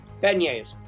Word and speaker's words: beignets: It's beignets. Beignets is correct. All right, for 2 points, which brings him Could have pronounced it phonetically.